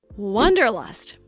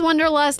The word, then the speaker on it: wanderlust: just a few years the word is not pronounced wonderlust it's pronounced wonderlust let's look at the difference the correct pronunciation of this word has the sound a like hot and stop it's an open Sound W Wanderlust for the